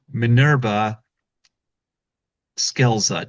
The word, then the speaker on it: Minerva Scelza: Folks, I give you Manurva Skeleza. Did I pronounce that right?